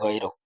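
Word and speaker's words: غيرك: হুম তারপরে এখানে লামে টান দেয় না ইলাহা গাইরুক গাইরুক বলে গাই না গইনের উচ্চারণ গাইরুক গাইরুক তাহলে আমরা প্রথম থেকে আবার দেখি সুবহানাকা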